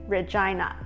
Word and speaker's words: Regina: RE-JEEN-NA Same spelling, different pronunciation The capital of Saskachewan is pronounced as Regina In Latin, Regina means "queen" The name suggests